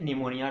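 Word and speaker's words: pneumonia: यहाँ निमोनिया में मैं एक बात बताना चाहता हूँ, पी वर्ड जो होता है, पी लेटर जो है वो साइलेंट होता है, इसे निमोनिया टर्म प्रोनाउंस किया जाता है।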